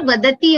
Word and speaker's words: vadati: Can you see this word vadati over here? Yeah. The takara is alpa prana, not mahaprana.